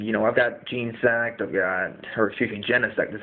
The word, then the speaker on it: Genesect: And, I've got Genesect, I've got, Genesect is how it's pronounced, and then, pretty standard team, I guess.